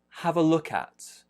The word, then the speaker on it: have a look at: about the next one have a look at have a look at a main stress is on look main stress is there have maybe a little